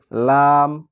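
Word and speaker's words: لام: লামের উচ্চারণ হচ্ছে জিহ্বার আগা সামনের উপরের দাঁতের মাড়ির সঙ্গে লাগাতে হবে অর্থাৎ সামনের দিককার দাঁতের যে উপরে মাংস থাকবে সে মাংসতে লাগিয়ে উচ্চারণ করতে হবে লাম লাম লাম এরকম।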